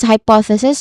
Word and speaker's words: hypothesis: But anyway, this is hypothesis. We start with the first syllable. There are four syllables. All in all, the stress is on the second syllable.